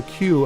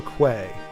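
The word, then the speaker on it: queue: They used to call a Q a quay. It's like nobody understands what you mean. Yeah. A Q. Yeah. You know Q UE. Like you're standing in line. Yeah. Yeah. I call that a Q.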